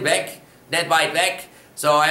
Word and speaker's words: weg: It does make more of a K sound at the end, weg, net weit weg.